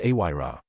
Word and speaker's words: Ira: Ira, pronounced aira, it's a Welsh name meaning snow.